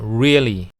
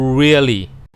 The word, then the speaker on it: really: I really don't understand เวลา เรา ออก เสียง คำ ว่า really อย่า ดก ลิ้น เหมือน ภาษา ไทย นะ ครับ แต่ ให้ ห่อ ปาก กลม ๆ แล้ว ออก เสียง ตัว ร ว่า really I really don't understand